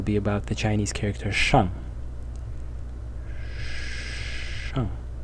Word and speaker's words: 上: This one will be about the Chinese character shang. Shang. In the fourth tone.